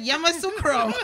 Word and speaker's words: Yamoussoukro: I can't pronounce it. Try. Yamoussoukro. Correct, Yamoussoukro.